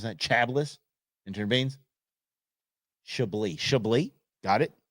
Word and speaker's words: Chablis: wine preferably a chabis is that how you pronounce that Chablis intervenes sh shab got it that's not how